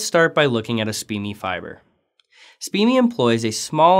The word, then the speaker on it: SPME: Solid phase microextraction, or SPME, sometimes pronounced SPME, is a fast and versatile sample preparation technique that reduces sample handling and solvent consumption.